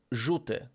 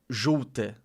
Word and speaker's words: Żółty: How am I missing the L with the how am I missing the dark L? Żółty. Żółty. Żółty. You just have to pronounce it like more.